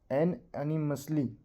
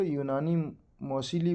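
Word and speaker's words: unanimously: सर्वसम्मति बोलते हैं सर्वसम्मति एन एनी मसली एक स्टूडेंट थे हमारे उन्होंने इसको यूनानी मोसली बोला था देखिए स्पेलिंग देखिए अन एनी अन एनी मसली ये है तो यूनानी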